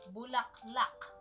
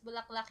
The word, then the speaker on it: bulaklak: Bulaklak. Bulaklak? Yeah. Yeah, I saw that in, on the book. Okay. What's that? What is bulaklak in English?